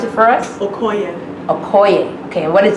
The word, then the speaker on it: Okoye: Can you pronounce it for us? Okoye.